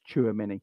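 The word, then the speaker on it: Tchouaméni: nonsense choose the money it's pronounced Chua Minnie there you go I'll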